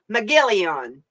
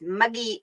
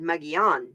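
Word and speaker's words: Mogollon: okay so she tell me no it's muggy and i always said muggy on she's like no it's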